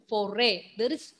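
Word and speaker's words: forêt: That axis circumflex doesn't mean you have to pronounce S sound there. No, foray.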